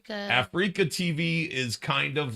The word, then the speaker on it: Afreeca: Africa? Africa TV is kind of like Twitch in Asia. Oh, what? But it says Wow. it sounds like Africa. It does sound like Africa, but it's spelled AFREECA In TV.